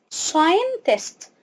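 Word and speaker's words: scientist: مجال اسمه ايه اسمه اقسمها مقطعين ساين تست ساين تيست ساين تست السي هنا مش بننطقها مش هننطقها يعني ايه غير صحي ام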